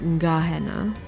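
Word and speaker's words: Gehenna: oh thank you interesting so even though it's about GE it's Gahanna probably from the Hebrew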